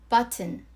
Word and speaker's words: button: T 발음을 먹듯이 해주셔도 되고 소리내어 발음해도 상관없어요. button.